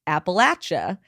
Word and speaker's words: Appalachia: Two, for those who aren't from the area and have always wondered the right way to pronounce it, it's Appalachia. As we often say, if you say Appalachia, we'll throw an Appalachia.